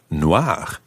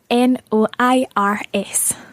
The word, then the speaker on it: noir: for example describing well it sounds the same but it's spelled n-o-i-r-e absolutely and if there were two what would happen to Noir in that situation um Noir would still sound the same but it would be spelled n-o-i-r-e-s because it's feminine and